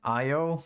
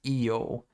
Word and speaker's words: Io: Yeah, in English it's pronounced by Io, but the Greek it's pronounced Io.